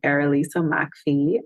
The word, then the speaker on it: Errolisa McPhee: um so if you look up my name erisa Macky I will be right there that's a peculiar name so I'll spell it it's spelled e r r o l